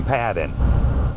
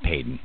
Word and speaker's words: Paden: satanic temple and padon that's right I'm going to say his name okay Tom um let's get something clear from the beginning that my last name is Peyton not Patton okay I really don't expect